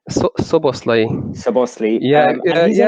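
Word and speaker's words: Szoboszlai: How do you pronounce it? Slovaski? Soboslai.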